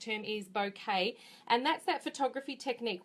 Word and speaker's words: bokeh: bouquet technique um so it's pronounced a little bit differently in different places some call it boka some call it bouquet I believe from reference the correct term is bouquet and that's that photography